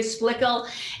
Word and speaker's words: Splickle: richie said to me she rhymes with pickles splickle okay good we got it dr splickle and my background with